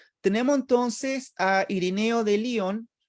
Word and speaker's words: Lyon: Tenemos entonces a Ireneo de Lyon, algunos le dicen Lyon, pero Lyon es una, digamos, una pronunciación inglesa, ¿ya? Nosotros, Lyon o Ireneo no era inglés, ¿ya?